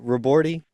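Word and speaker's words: Ribordy: Robordi? Yep. Okay. I asked him before our interview just to make sure. I was like, "Is I it did Robordi?"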